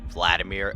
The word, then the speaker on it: Hvladimir: many but not me did any of you as you heard me say Vladimir assume that there was a silent h because there is so